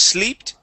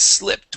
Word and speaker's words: slipped: All right, so here, instead of sleeped, it is slipped with a short I sound.